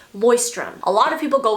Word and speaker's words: Leuchtturm: I think it's German. I'll just put it here on the screen, but apparently it is pronounced Leuchtturm.